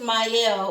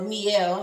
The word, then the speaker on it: Mielle: about this particular um not just mile or meal however you may want to pronounce it first let me